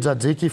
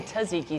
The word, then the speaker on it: tzatziki: We're going to do our homemade tzatziki first, guys.